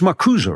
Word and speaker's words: Marcuse: from Marx to Marcuse, it's Marcuse, right? There's an actual, pronounce that E.